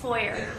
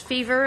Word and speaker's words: Foyer: Is that the correct pronunciation? Foyer. Foyer. Okay. Sometimes it's fever, and that's kind of exciting when people get that wrong, but Fever, that would be a good name.